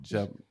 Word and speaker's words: je: You gotta put the teeth together. Oh, ja. Ja. There you go.